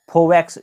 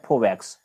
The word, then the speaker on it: Foveaux: Straight का नाम है फोवैक्स स्ट्रेट। इसका स्पेलिंग है FOVEAUX, इसका प्रोनाउंसिएशन है फोवैक्स, FOVEAUX, फोवैक्स स्ट्रेट या फोवैक्स जलसंधि।